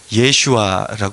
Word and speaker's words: 예슈아: 이름이 있습니다 여호수아 또 여호수아의 이름을 다르게 발음을 하면 예슈아 이렇게 발음을 하죠 히브리어로 이것이 바로요 이름을 헬라어로